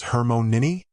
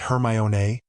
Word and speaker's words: Hermione: Your name is Hermmon Nini. Actually, it's pronounced Hermione.